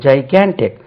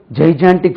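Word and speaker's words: gigantic: ஆன் the second syllable ஜைகேன்டிக் ஜைகேன்டிக் நம்ம படிக்கும்போது ஜைஜான்டிக் figure பெரிய உருவம் ஜைஜான்டிக் ஃபிகர்னு தவறாவே சொல்லிக் கொடுத்தாங்க நீங்க இப்ப டிக்ஷனரில பார்த்த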